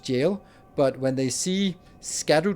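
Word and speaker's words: Gaol: They insist that the name of of a zone that's spelled G O A L or A O A O L is pronounced jail.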